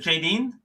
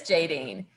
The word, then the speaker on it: Jadine: fact uh good uh is it jay dean it is jadine all right your